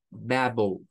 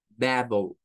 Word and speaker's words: babble: función y es que le traslada acá un sonido de un shua es decir un sonido e y se une a la l oh oh es el sonido que tienen todas las palabras que terminan en le all all all en este caso verdad tendríamos babble babble babble que se traduciría pues